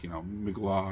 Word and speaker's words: Mgła: And I kept thinking Mgła, or however you pronounce it, it's fog in Polish, and the L with the little line is pronounced as like a W.